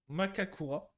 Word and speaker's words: Makakura: En, en lisant Herboristerie exotique, j'ai appris que le Kakura Maku Makakura. Plutôt celle-là, parce que le R, bon, en japonais, ça se prononce L.